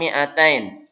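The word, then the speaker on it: مِائَتَيْنِ: Berikutnya tulisan mi'atain. Mi-nya dibaca pendek.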